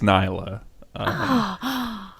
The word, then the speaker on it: Nilah: about the joy onbound Nila Nyla Mila's how the casters pronounce it so I'm gonna trust him on this one I know she says her own name oh my gosh and I think it's Nyla okay so we were